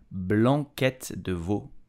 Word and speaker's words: blanquette de veau: So how do you pronounce it correctly? You will say blanquette de veau.